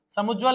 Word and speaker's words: समुज्ज्वल: समुज्ज्वल ऐसे नहीं लिखा जाएगा, कैसे लिखा जाएगा? समुज्ज्वल, समुज्ज्वल। आप उच्चारण को भी पकड़िए, समुज्ज्वल, समुज्ज्वल नहीं, समुज्ज, मतलब जा डबल बार उसमें साउंड करेगा।